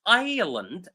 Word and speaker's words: island: The third word is island. Island. The s is silent.